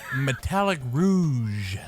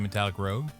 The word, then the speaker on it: Metallic Rouge: Let's talk about Metallic Rouge. Hey, you said it right. I did not the first couple times. Is it because your dyslexia was killing you and you kept saying Metallic Rogue?